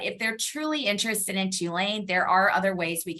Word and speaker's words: Tulane: They asked how to pronounce the name of the school, if it's Tulane or Tulane. I say Tulane.